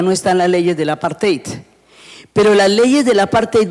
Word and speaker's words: apartheid: En inglés se dice apartheid y en africano se dice apartheid.